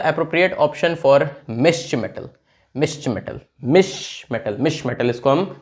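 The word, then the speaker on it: Mischmetal: मिश्र मेटल इसको हम pronounce करते हैं, ठीक है।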